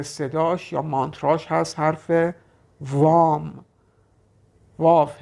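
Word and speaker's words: वं: صدا یا مانترای چاکرایی ریشه شد حرف لام و اما برای چاکرای دوم چاکرای خاجی یا چاکرای سباتیستانا بذر صداش یا مانتراش هست حرف وام واف ه ی حرف دوم مونده به آخر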